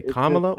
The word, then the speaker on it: Kamala: Well, if it's not one of those cases, then it will be easy as hell for you to just say Kamla or Miss Harris.